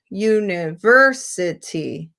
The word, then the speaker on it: university: so then i ask where is the stress on which syllable so you never city it's on the third syllable is there a secondary